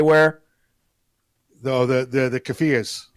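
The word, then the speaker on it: keffiyeh: three were wearing uh I how do you pronounce that Mike the the the scarves that they wear the the the the cafas cafas there you go uh the black and white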